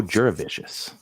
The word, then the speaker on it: Jurevicius: for it he's uh so delicious and it rhymes with that Joe jurevicius now most people would